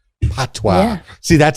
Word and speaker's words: patois: It's called patois. Patois. Yeah. See, that sounds French too. French word. It's a French word. It's P-A-T. It's spelled P-A-T-O-I-S, but it's pronounced patois. P-A-T-W-A-H.